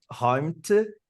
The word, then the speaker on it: räumt: Eu sempre esqueço a pronúncia desse A com trema. É igual o EU.